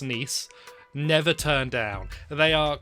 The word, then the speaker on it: Nice: missing on this one nice biscuits not nice they've got nice written on them but they're pronounced nice never turn down they